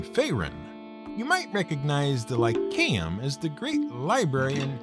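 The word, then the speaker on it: Lyceum: you might recognize the lycaem as the great library and center of learning in the lands of britannia though you probably pronounced it lyseum remember in ancient greek that sea is always hard now aristotle's library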